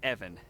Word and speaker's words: Ivan: You might have saved my life today, so ask away, Ivan. Evan. It's pronounced Evan, with a short guttural.